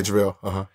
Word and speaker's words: JaVale: Am I pronouncing his name? Yeah, JaVale.